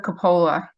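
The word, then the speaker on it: Coppola: ready to go hello uh I'm Metra from pronouncing your name correctly it's uh CA that's a okay it's Capa okay that that's right I see that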